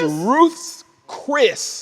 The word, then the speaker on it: Ruth's Chris: It's Ruth's Chris. Like Chris belongs to Ruth.